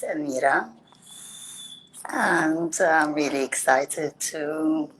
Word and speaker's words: Amira: sofia and yes you said it's right it's amira and i'm really excited to go into this